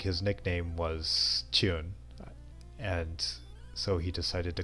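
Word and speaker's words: 中: And the Chinese pronunciation of that character is Chun, or at least in Japan they say it is, because when you play Mahjong you have to call that tile Chun.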